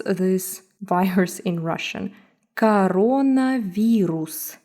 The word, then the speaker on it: коронавирус: Coronavirus. So pay attention to the vowel reduction rule. It's not corona, it's coronavirus. Coronavirus.